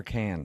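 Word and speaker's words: Cannes: But what's Yeah, but the pronunciation is it con or can? It's been driving me nuts my whole life and I've never been there. Yeah, it's can.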